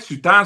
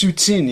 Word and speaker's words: Soutine: Am I saying it right? Sutan, Soutine? I think it's Soutine, yeah.